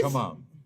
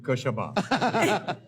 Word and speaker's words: क्षमा: The word is it's- Kshama, but she's saying Kashama. Yeah, something is silent in it.